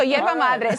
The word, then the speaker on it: Yerba Mate: Yeah, so Yerba Mate.